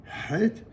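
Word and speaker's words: חית: Le het, il y a vraiment que dans l'hébreu et dans l'arabe qu'il y a cette prononciation, donc c'est vraiment une lettre très prononcée, het.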